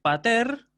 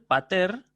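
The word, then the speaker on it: πατήρ: Entonces, pater, con acento agudo al final, pater, padre.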